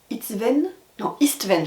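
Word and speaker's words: István: Et le 3e personnage qu'on suit, c'est Istven, je sais jamais le prononcer, Istven, j'avais bien prononcé, qui lui, justement, est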